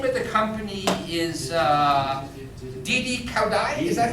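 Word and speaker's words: Didi Kuaidi: But the name of the company is Didi Kaudai, is that how it's pronounced? Didi Kaudu?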